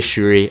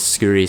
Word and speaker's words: Shuri: I've seen people do that with like fire Shuri, or I'll say Shuri. I keep calling it Skuri, so people are telling me to pronounce it right.